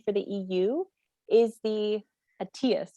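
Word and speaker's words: ETIAS: the EU is the ATIAS. Am I saying that right? The European. That's right. Yeah.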